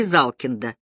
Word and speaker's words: Залкин: Палкина Малкина чална и Залкин первые четыре фамилии он произнёс скороговоркой а последнюю с ударением на последнем слоге как будто колоду опускал Залкин и здесь голос его